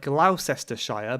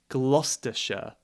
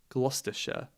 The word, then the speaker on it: Gloucestershire: just got that gloucestershire this one looks like glaucestershire but we say gloucestershire gloucestershire right um gloucestershire